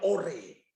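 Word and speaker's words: אור: Terang bahasa Ibrani-nya dipakai kata tulisannya or, bacanya ore.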